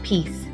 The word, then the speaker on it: piece: The word is piece, and piece has our long E sound in it.